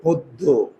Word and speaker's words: পদ্য: কবিতা ছন্দময় কবিতা তাহলে এটার উচ্চারণ হচ্ছে পদ্ব দেখো পি এডি পদ্ব এই ও মানে উকার আর এটা হচ্ছে পদ্য দেখো ও দো এই যে দুইটা ও মানে দুইটা উকা বোঝা গেল ওকে এখন এই